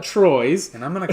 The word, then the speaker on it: Troyes: I'm pretty sure it's pronounced Troyes. So, I don't know why. I don't know how. So Paul's going to call it Chwa. I'm going to call it Troy's.